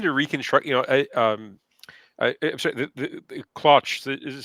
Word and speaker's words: Claunch: I'm sorry, the Claunch is how to pronounce the coach's name. Is that correct? Yeah. Claunch.